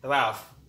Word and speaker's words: rough: GH is sometimes pronounced like f. For example, rough, which means not smooth.